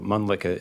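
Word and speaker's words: Mölnlycke: because it's kind of hard to spell and pronounce? No worries. So, Mlicka is M O L N L Y C K E.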